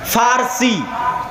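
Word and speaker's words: فرس: Roman সাম্রাজ্য আরেকদিকে পারস্য পারস্য মানে ফারসি বাংলায় বলে প কিন্তু ওটাই আরবিতে আছে ফারসি ফুরস কেন আরবিতে পর কোন উচ্চারণ নাই। আরবিতে পর কোনো উচ্চারণ নাই। সেটা আমরা পারস্য বলতেছি ওটাই আরবিতে বলে ফুরস ফার্সি।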